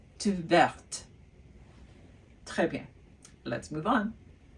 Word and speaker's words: verte: And the reason why I pronounce the T at the end is because there is an E after the T.